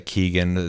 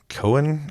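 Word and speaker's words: Keoghan: I've heard people say Keegan. That's not how you say that. But Cohen, I don't know.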